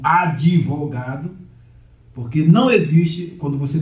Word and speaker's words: advogado: Você vai criar uma nova sílaba. Então você vai criar a, de ou devogado.